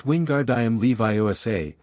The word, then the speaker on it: Wingardium Leviosa: Ron, struggling with the pronunciation, grew increasingly frustrated. It's Wingardium Leviosa, make the gar can I send long, Hermione instructed.